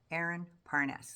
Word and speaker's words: Aaron Parnes: So Aaron Pernes of uh Peress uh Parnes perspective. Aaron Parnes. Yeah. Thought I said his name wrong.